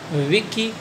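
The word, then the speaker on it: Wilkie: Correct option is सी, विकी Collins, अच्छा नाम है, एसोसिएट करो woman in white विकी Collins, L silent है ना।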